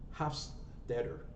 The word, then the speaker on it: Hofstadter: His last name is spelled Hofstadter. Hofstadter.